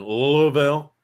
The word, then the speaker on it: Louisville: Baltimore and Louisville yeah it's supposed to be one syllable Louisville's supposed to be one syllable um and my mom would always laugh at me because I would always say Louisville and she'd go no it's Louisville I'm like okay Pikeville